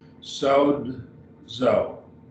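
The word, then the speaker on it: σῴζω: Sozo, sozo. So it's two syllables.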